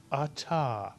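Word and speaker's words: אתה: The first syllable is A. The second syllable is Ta. You put the word together, you get Ata.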